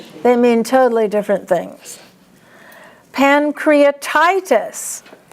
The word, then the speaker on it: pancreatitis: Pancreatitis. TI is the accent.